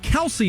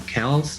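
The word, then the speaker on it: Kelce: it glasgow all this time and next the mispronunciation of cells football fans have most likely been calling them the kelsey brothers for years the philadelphia eagles center jason kells that's the correct pronunciation he revealed in radio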